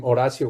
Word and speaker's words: Horacio: you will know that the h is silent and so therefore my name is should be o apostrophe r a s s i o horacio that would be a